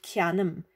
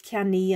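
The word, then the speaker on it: ceannaím: to say I buy it's not ki annum it's kami and I waken up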